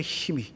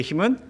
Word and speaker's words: hymn: 재밌는게 나왔어요 마지막 우리의 힘은 찬양이에요 찬양 힘으로 발음되는 영어 hym 저게 진짜 제가 쓴게 아니라 인터넷에 검색하면 저렇게 나와요 힘은 찬송가를 의미한다 굉장히